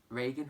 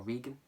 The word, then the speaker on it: Regan: what are their names there their names are Regan or Regan have you wanna pronounce it Goneril and Cordelia so there you